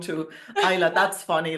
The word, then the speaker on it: Isla: It's Isa.